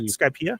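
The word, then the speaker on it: Skypiea: Skypea?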